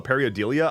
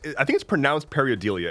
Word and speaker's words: pareidolia: If I can pull a Periodelia, I'm going to be a very happy boy.